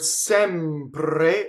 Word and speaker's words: sempre: So the word sempre rhymes with tɛmpre, so every single thing that happens in tɛmpre happens in sempre.